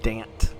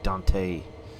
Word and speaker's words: Dante: right stop a location damped south whatever you do don't say dante you will offend locals even though i say it i'm kidding of course yeah they pronounce it damp physics feel kind of